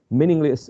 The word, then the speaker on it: meaningless: Meaningless has 3 syllables as well, again with the first syllable stressed.